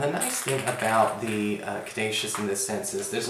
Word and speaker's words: Caduceus: Well, for your spiritual advice, we do have the card of the Caduceus, or the Caduceus, however you want to pronounce it. I say Caduceus.